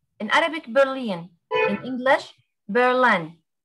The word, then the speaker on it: Berlin: In English Berlin. Berlin.